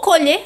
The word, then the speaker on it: colher: se usa para comer Vou Colher flor aqui eu estou falando do verbo com essa pronúncia de timbre fechado Vamos ver outro exemplo